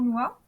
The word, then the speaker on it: Honua: Alors, on a le site de l'association NOA. Ça s'écrit comment?